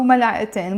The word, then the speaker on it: ملعقتين: But when I add the in, I will have to pronounce it.